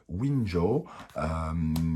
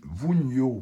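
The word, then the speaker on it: Wunjo: Nous avons Winjo, qui nous parle de la joie, hein, donc quelque chose d'heureux qui arrive vers vous. Wunyo, pardon, hein, j'ai mal prononcé, Wunyo, qui nous parle de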